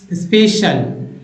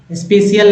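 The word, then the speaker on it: special: आ रहा है space स्पेशल स्पेशियल नहीं स्पेशल सोशल सोशल है ना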